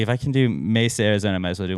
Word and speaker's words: Mesa: would say me say Mesa MH and I heard people pronouncing Mesa Arizona as Misa Arizona yesterday so I was